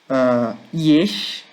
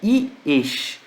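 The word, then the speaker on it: יש: Yesh, né? Cuidado com a pronúncia. Existe uma palavra que é chamada esh. Esh significa fogo. Aqui é iesh, tá? Tem cuidado com o som, tá?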